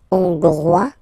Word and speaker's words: Hongrois: Hongrois, Grois, Hongroise. Ok? So here, final S not pronounced for the masculine form, and then you pronounce it here for the feminine form.